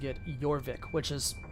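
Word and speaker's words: Jorvik: is the Anglo-Saxon word yorvik would have been the Norse pronunciation of trying to pronounce uh aaer Wick or aaer witch so like if you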